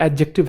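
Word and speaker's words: adjective: बता चुका हूँ, वैसे ए और जे के बीच में जो डी होता है वो साइलेंट होता है, इसे एडजेक्टिव नहीं कहते। मास्टर जी आज हम एडजेक्टिव पढ़ेंगे। एडजेक्टिव नहीं है ये एडजेक्टिव है। क्या है? एडजेक्टिव। डी साइलेंट है।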